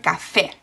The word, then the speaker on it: café: For example, the word coffee, where we have the stress in the coffee, they say the word café. Now, why is the stress at the end? Because they have an accent on the E.